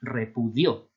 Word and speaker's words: repudió: Y lleva tilde pues, porque al ser el pretérito indefinido, pretérito perfecto simple de indicativo, es repudió, ¿verdad? Con el acento, la carga acentual en la última sílaba.